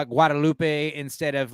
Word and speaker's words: Guadalupe: call it the Rio Grande we call it Guadalupe instead of like guadaloop because like living in El Paso versus Austin